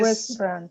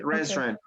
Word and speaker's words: restaurant: for this word restaurant this word has only two syllables press run rest restaurant run rest run okay restaurant okay all right so